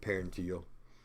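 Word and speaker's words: parietal: And I said parental, I meant paranteal. It's easy to move that in, up, or just a few letters and mispronounce.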